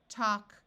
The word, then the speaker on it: talk: So we have walk, talk, chalk, and stalk. In all these words, the A has its broad sound of ah, and the L is silent.